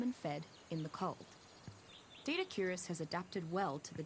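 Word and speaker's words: Doedicurus: I've been pronouncing that long the entire time. I've been calling it Dodicarus.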